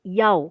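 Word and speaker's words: Ιαω: Ya, itu huruf Ibrani teman-teman. I-A omega. Ya, jadi bacanya Yaw gitu ya.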